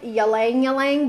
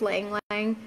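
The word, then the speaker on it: ylang-ylang: well with it blends well with geranium lavender ylang ylang it looks like yelling yelling but it's laying lying that's how it's pronounced and other citrus oils like orange grapefruit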